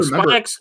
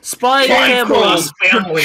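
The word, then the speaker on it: Spy × Family: I mean, like Spy X, not Spy X. I said it wrong. No, Spy Family.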